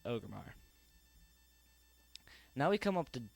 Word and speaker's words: Orgrimmar: thought about its pronunciation, so I used to call it Orgrimmar. I forgot that extra R that's in between the G and the I. Now I know my mistakes, and now it's Orgrimmar.